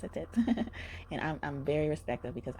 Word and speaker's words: Satet: They're like, no, it's Satet. And I'm very respectful, because I really like when people pronounce my name right for the first try.